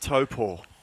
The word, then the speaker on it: Taupo: Taupo is the correct pronunciation of the classic in New Zealand.